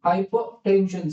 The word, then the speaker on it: hypertension: Hypertension. Some people don't pronounce that R. Hypertension. So we don't need to really hypertension. No. Don't accentuate that R.